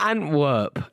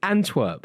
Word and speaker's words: Antwerp: at work who artwork it's not Antwerp it's Antwerp and twerp yeah but not and what okay give me their